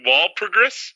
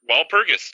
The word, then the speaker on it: Walpurgis: night on thursday holy you pronounce something right is that real wall progress wall purges you said it right the first time paul walpurgis all right cool lund could very well become